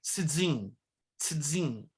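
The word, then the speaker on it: צין: Aí tem o deserto de zin, que no hebraico é tzin, tzin, porque usa-se a letra tsadê.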